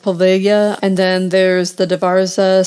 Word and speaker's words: Poveglia: I believe it's pronounced Poveglia.